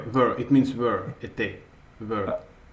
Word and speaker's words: était: Whenever you see this ending and you don't pronounce it at all. So what you pronounce is only était.